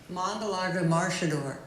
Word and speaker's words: Mangalarga Marchador: it up online so mongala maridor it's almost like uh in Brazil they sort of roll it okay and it's mang